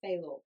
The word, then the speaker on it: Failor: How do you normally pronounce it? I I say Fallow.